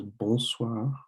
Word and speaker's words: bonsoir: The second one is bonsoir, which is also hello, good afternoon, or good evening.